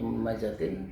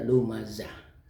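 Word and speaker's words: لُمَزَة: Kemudian yang ketiga adalah lumazah, dibaca lumazatin, dibaca lumazatin tapi harus dibaca lumazah.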